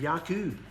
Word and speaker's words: Jacob: ethu and yakub or Jacob and Esau pronounced ISU and yakub now Yak was 40